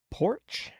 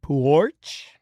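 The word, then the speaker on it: Poarch: The name of the artist, Bella Porch. I think that's how you say it. Porch. It's got an A in there, so it's longer.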